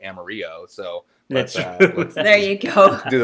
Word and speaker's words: Amarillo: no nobody does so we say amarillo texas even though it should be amarillo so there you go